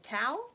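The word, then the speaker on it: Thao: you've reached Sam by Dustin Tau I believe is how you say his last name it's a why a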